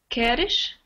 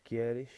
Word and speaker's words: queres: so the way you pronounce this is queres tomar Quieres? ¿Quieres tomar algo? without the I, so not quieres, that's Spanish. Queres.